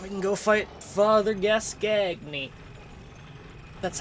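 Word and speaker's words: Gascoigne: And then we can go fight Father Gascagney.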